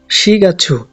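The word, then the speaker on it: 四月: এরপর হচ্ছে শিগাচ্ছু। মাসের হিসাব করার সময় 4কে শি বলা হয়।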